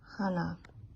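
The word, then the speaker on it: Hanneh: It's spelled H-A-N-N-E-H. It is pronounced as Hannah.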